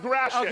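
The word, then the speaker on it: Gratiot: We have to The name bleep of the it. street is pronounced Grash it.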